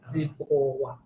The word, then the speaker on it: Zimbabwe: How I do you think- pronounce this Z name? Zimbabwe.